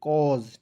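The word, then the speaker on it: cause: का कॉज लिख दीजिएगा एस का उच्चारण दोस्तों यहां पे ज के रूप में करेंगे ठीक है तो क्या हो जाएगा दोस्तों सी ए यू एस ई कॉज ठीक है चलिए उसके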